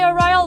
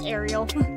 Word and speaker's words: Arial: Like I say Arial, but someone else I know says Arial.